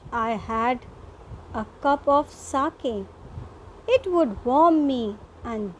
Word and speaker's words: sake: And this word, children, S-A-K-E. Though in an English we pronounce it as sake, but it is a Japanese word, and here it is pronounced as sake, which means a popular Japanese drink.